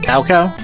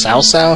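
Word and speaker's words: 曹操: Ah, Cow Cow? It's actually pronounced Sao Sao, if I remember right. Because there's different translations where it's CAO, CAO. Others it's TSAO, TSAO.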